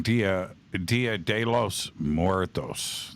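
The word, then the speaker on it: Día de los Muertos: Dia de los Muertos.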